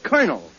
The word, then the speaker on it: colonel: it's very simple in in military parlance c-o-l is pronounced car as a colonel yeah